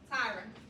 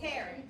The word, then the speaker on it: Taryn: Tyron. Just correct me respectfully. What is it? Did I say it wrong? How do you pronounce it? Taryn, alright?